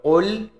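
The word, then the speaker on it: قل: qo dan Kaf ya karena huruf qf itu ada di Pangkal lidah dengan langit-langit atas qo kalau huruf Kaf itu ee bawah pangkal lidah dengan langit-langit atas dan juga kalau misalnya berbeda cara membacanya maka berbeda pula artinya kalau Qul Katakanlah kalau kul huruf Kaf kul Makanlah artinya ya Nah namun kalau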